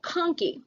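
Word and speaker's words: conchae: and those are called conkey it's spelled like a conch shell because they curl like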